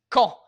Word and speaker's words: Caen: J'veux dire, si vous essayiez de le lire, vous le prononceriez comme Ca-en, comme cayenne, le piment, presque. Caen. Mais c'est Caen, comme - c'est pas "con", qui veut dire "idiot", c'est Caen, comme vous promoncez le mot "quand".